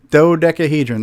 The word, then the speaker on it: dodecahedron: Dodecahedron? Dodecahedron.